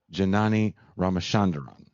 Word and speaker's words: Janani Ramachandran: pascal because you say way better than me janani ramachanderon that's correct an east bay native where i'm